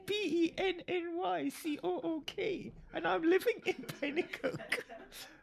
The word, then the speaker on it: Penicuik: But it's spelled a different way. It's Pennycook. And I'm living in Penicuik. But it's Penicuik, Penicuik.